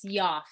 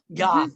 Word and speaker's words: Yoffe: Did I say it right? Yes, Yoffe. Yoffe, Yoffe. Yes.